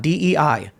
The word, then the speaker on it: Dei: Whether intentionally or not, DEI means God. Of God. That's creepy to me. Yeah, apparently pronounced Dei, by the way.